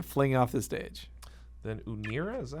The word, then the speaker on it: Unira: Then Unira, is that how you pronounce this? Unira, yeah.